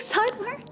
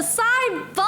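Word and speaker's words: Sidebun: Am I saying sideburn? Burn? Oh, Side-bun. I feel like I mess up your name every time. And I thought I'm not saying sideburn, so I'm saying it right, but it's Side-bun.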